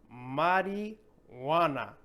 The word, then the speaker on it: marijuana: This one's very difficult as well because of the location of the H. So it's in the middle. So our brain wants us to pronounce that H in the middle because how else would you pronounce this word, right? But we have to make that connection in our brain that this is silent and that we have to say this all together.